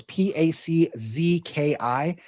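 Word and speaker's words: Pączki: It's Pakzki.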